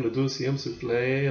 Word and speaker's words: Le Deuxième Souffle: Although I probably did the first time, le deuxième souffle, that was pretty much close to it, wasn't it?